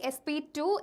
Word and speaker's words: sp2: of hybridization here okay pronunciation will be sp2 sp3 not about square and cube right this is sp hybridization and second one is sp2 hybridization not it is it is not sp square right okay now let